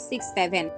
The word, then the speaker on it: 67: সংখ্যা জুটি বা শব্দ সক্স সেভেন এর উচ্চারণ হবে সিক্স সেভেন তবে কখনো 67 নয় কিন্তু জটিল বিষয় হলো